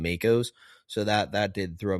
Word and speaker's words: mako: They kept saying macco because that's how they say it. uh over in New Zealand. That just was driving me crazy as a a selfish American who's used to calling them Makos.